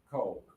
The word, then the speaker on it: Coke: Coke. Good. And I really heard you making the good effort to go o oh coke. That's the right pronunciation of the famous soda.